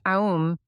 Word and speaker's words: Om: The Om, pronounced Aum, is often referred to as a symbol for God in the three aspects Brahman A, Vishnu U, and Shiva M.